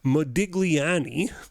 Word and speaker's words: Modigliani: debt so here's what Miller and let me pronounce the name right Modigliani Miller and Modigliani say they say whatever the